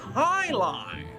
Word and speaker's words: Jai-Alai: What the heck is Jai-Alai? It's pronounced Highline.